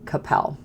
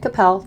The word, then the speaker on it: Coppell: So number 1 on the list in the Dallas area is actually Coppell. It's called Coppell, not Coppell. People never seem to really know how to pronounce it, but it's Coppell, and it is right